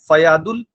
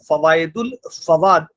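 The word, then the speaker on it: فوائد الفؤاد: तो तीन लोगों ने मिलकर ये किताब लिखी है फयादुल फवाद, फवायदुल उच्चारण है, फवायदुल फवाद एक बुक लिखी गई जो शेख निजामुद्दीन औलिया की बातचीत का विवरण ही नहीं है।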